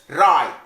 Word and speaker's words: write: Menulis, write. Lah di sini w lesap. Jadi dalam membacanya w-nya le lesap, w-nya lesap. Write, menulis.